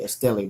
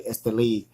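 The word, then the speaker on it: Estelí: So anytime you see the words Jalapa, Esteli, and a lot of people pronounce it wrong, they say Esteli, but it's actually Esteli or Condega, you know you got some great tobaccos in your cigar.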